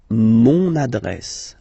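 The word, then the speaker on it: mon adresse: monad monad my address monad monad okay you can hear now this little link so you get to pronounce this n monad monad okay and the last one I I took same opposition opposition.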